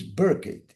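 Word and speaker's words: Burkitt: Um dos caras que estudou isso de uma forma mais legal foi Dennis Burket. Acho que se pronuncia assim. Se escreve B U R K I T. É capaz de ter dois T.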